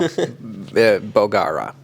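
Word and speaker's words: Bolgheri: Anyway, we went to Bolgara. You roll the R's. Bolgara. If you could roll your R's better. I can't roll very well. Bolgara with the rolled R, which is gorgeous.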